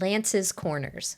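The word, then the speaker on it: Lantz Corners: this other really nice Meadow and we're at Lan's Corners which is spelled l a n TZ Lan's Corners which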